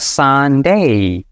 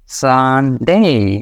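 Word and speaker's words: Sunday: আমরা খুব ফাস্ট বলি এটা শুদ্ধ উচ্চারণে আসলে একটু টান দিতে হয় কারণ এই যে মাঝখানে উল্টা ভি আছে যেটা হচ্ছে বড় আ এবং এটাকে টান দিয়ে নিতে হয় তাহলে সানডে সানডে এভাবে স্যাটারডে সানডে এভাবে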